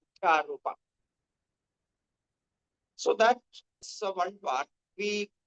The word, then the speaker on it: Adhyaropa: Adhyaropa is pronounced as Adhyaropa.